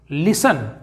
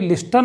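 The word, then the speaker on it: listen: चलिए रूल देखते हैं यदि किसी शब्द के अंत में टी ई एन यानी कि न लिखा हो तो वहां पर टी साइलेंट होगा एग्जांपल देखते हैं लिसन देखो दोस्तों यहां पर दिख रहा है टी ई एंड न सा लिखा हुआ है तो यहां पे हम इसको पढ़ेंगे लिस्टन नहीं पढ़ेंगे हम इसे पढ़ेंगे लिसन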